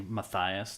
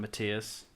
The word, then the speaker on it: Matthias: Brother Dennis, it's actually Matthias, not Matias.